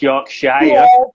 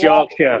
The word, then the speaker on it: Yorkshire: will know because of the little dog you pronounce yorkshire but it's yeah it's yorkshire how are we pronouncing england yeah so that's